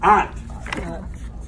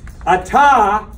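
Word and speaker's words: את: At is one syllable. At. And so the Shabba there doesn't have a sound, but what does it do? It connects these together and makes one syllable.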